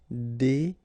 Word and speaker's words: déguiser: Se déguiser en. Okay. Remember when you got this G, U and I, it will give you this G sound. G. Okay. Déguiser.